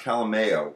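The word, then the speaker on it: Calaméo: by luck it's called I think it's pronounced Calo because the accent's above the eight so it's Calo and it's a you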